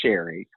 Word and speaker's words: Sheree: And I know it's spelt with two E's, but it's actually Sherry. It's the old-fashioned way of saying.